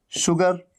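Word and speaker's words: sugar: शलगम वाला श, और S के साथ U लग करके आता है, और तब भी साउंड आता है श का, शलगम वाला श। कैसे? शुगर, शुगर मतलब चीनी। ये शुगर नहीं है, ये क्या है? शुगर। यहां पर आप देख रहे हैं ना, ये शलगम वाला श है।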